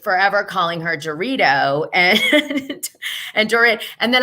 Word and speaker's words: Dorit: I was told that I was like forever calling her Dorito and Dorit. And then I found out that it's like this Hebrew name, and someone said that I should pronounce it that way.